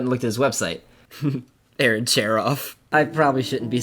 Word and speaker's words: Aaron Cherof: Aaron Cherof.